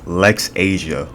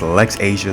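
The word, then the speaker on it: Laxasia: I just looked it up on Google Translate. It's Lex Asia. Okay, so her name is Lex Asia, the complete one.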